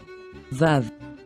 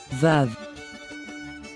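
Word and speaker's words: ו: Vav, Vav. Vav has three possible sounds: the sound of V, the sound of O, or the sound of U.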